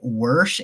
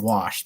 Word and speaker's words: wash: And for me, it's people that say worsh and measure. It's just stop it. It's measure and wash. There's no R in there.